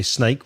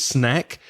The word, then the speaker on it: snack: Words like crisps, you said snack, because some people say snake, which is serpiente. Don't say that. It's snack. Mobile, vegetable was correctly pronounced.